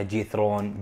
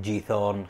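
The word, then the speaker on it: Giethoorn: نبدأ بأشهر منطقة يروحوا لها السياح من أمستردام واللي هي جيثرون، بعضهم يسمونها جيثرون، جيثورن، خيثورن، سمها اللي تبي، بس زبدة هذا اسمها بالإنجليزي.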